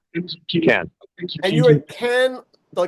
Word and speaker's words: Cannes: You're at you're in Cannes, but is it Cannes or is it Cannes? Can. Cannes. Okay. Can. Because there's a lot of debate about that. And I know so it's There is. the locals say, Can.